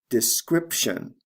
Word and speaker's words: description: and sound changes describe description notice there are two sound changes here the long i becomes a short i describe description and the b becomes a p sound before the t describe description let's move